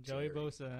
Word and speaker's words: Joey Bosa: I said Joey Bosa because I remember I said his name wrong in the last show. So Joey Bosa.